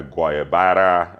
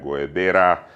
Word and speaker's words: guayabera: It can be worn with a short sleeve t-shirt, long sleeve polo, a linen top, a guayabara, or am I saying it right, guayabera.